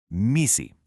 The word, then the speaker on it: MECE: MII and you pronounce it MI stands for mutually exclusive, collectively exhaustive.